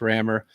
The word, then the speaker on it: Rammur: thought one last chance r-a-m-m-u-r still could be pronounced rammer and that was available